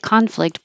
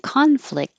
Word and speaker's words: conflict: I could sense that conflict and no don't pronounce the T you just hold it there conflict boiled up in